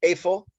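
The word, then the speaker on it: איפה: With a hey, it's efo, means where. It's the accent on the first syllable.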